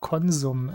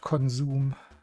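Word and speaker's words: Konsum: East Germany, we have Conzom as well. Let's let's ring a bell for for consum. And yes, that is the correct pronunciation. It is not consume.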